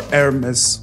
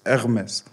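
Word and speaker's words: Hermès: and they didn't say, they don't pronounce the H. Yeah. So it's R. They start with the R. Hermes, we say it in English, but in French it's Hermes. Yeah.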